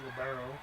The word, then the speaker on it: libero: And Librio comes in, which is technically how it's said, but not in St. Louis, it's Libero.